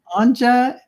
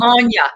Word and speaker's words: Anja: Anja. Yes. And Kay. It's Anya, actually. It's Anya.